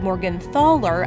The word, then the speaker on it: Morgenthaler: decades long debate about whether the family name is pronounced Morgan ther or Morgan thalor the German surname was thought to be pronounced as Morgan thaler up until the outbreak of World War II however it's said that the family patriarch William the blacksmith requested the family go by Morgan f failor to avoid the discrimination